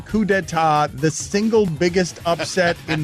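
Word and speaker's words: coup d'état: drummer over a wedge coup d'etat what what a coup know what we can't believe is that you pronounce that correctly what is happening right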